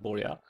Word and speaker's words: Borja: It's spelled Borga, but it's pronounced Borja.